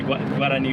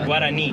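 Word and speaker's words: Guaraní: The Guarani one was going to be harder.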